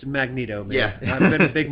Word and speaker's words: Magneto: on the show his uncle Stanley who who pronounced it uh magnetto all right but but I rebutted because I